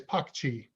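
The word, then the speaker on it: Pocci: So it would be P-O-C-C-I is Pakchi.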